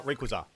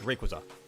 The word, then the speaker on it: Rayquaza: How do you pronounce Rayquaza? It's uh Rayquaza. It's Rayquaza. Exactly.